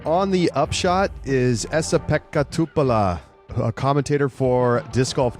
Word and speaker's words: Pekka Tupala: Joining us now on the Upshot is Essa Pekka Tupala, a commentator for Disc Golf Network over on the European Events.